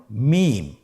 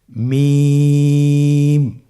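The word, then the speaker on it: ميم: মিম। হরফটির নাম কি? মিম। মিম হরফটি উচ্চারণের ক্ষেত্রে অবশ্যই বারিক হবে, পাতলা হবে এবং তিন আলিফ টেনে উচ্চারণ করতে হবে। আমার সাথে আরেকবার চেষ্টা করুন। মিম আবার বলুন মিম হরফটির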